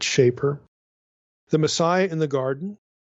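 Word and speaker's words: Schaper: Now, the first article I'm going to reference is by Joachim Shaper. I think it's a long A pronunciation, or Shaper, but Shaper.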